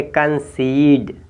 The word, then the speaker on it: concede: इसी तरह से नेक्स्ट देखेंगे, यानी लिखा है CONCEDE, तो इसको आप पढ़ेंगे कंसीड।